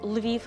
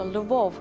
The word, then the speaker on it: Lviv: We know Lviv, and you call it correctly Lviv, not a Lvov, which is Russian, but a Lviv. The same goes for Kyiv.